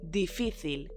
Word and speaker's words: difícil: And the word for difficult is difícil, so almost the same, with an accent on the middle I.